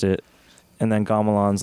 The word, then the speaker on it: Gamelan: Like there's like it's a Javanese gamelan, I think, you know, as an orchestra.